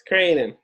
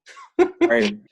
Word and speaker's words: Creighton: Come on, you gotta get the pronunciation, man. It's Creighton. Creighton.